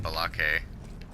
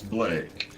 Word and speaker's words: Blake: that pronounce my name Balake. We have lost objective Duff. Balake. Balake, yeah. But the thing is, once you correct them and say actually it's Blake, would they go okay